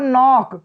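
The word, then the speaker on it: knock: जैसे होता है नॉक, क्या होता है नॉक, यहाँ हम नॉक नहीं पढ़ेंगे, के का उच्चारण ही नहीं करेंगे, के का उच्चारण होगा ही नहीं।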